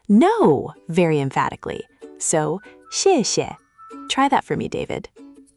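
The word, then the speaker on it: 谢谢: "Xièxie". This means "thank you". It's x i e x i e e with a fourth tone on the first "xiè" and a neutral tone on the second "xiè".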